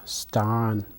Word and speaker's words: stan: The animal for this show is stan. Stan. It's kind of a long A sound.